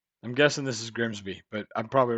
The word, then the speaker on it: Grimsby: But what if we told you it was pronounced Grimis? No, We'd be lying. It's Grimsby.